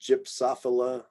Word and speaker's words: Gypsophila: And then in front of other letters, let's see, I'll also do the Y for that one, gypsophila. So the J sound for that, gypsophila.